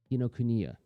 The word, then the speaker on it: Kinokuniya: I always trip on the pronunciation of that name. Man, that makes me feel like such a dope. Kinokuniya.